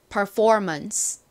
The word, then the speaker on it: performance: 앞부분 PER은 per 소리가 나죠? 그리고 FOR은 for 소리가 나고요. for. 마지막 ANC의 uns 발음과 M이 가진 미음 발음 합쳐지니까 months가 되죠.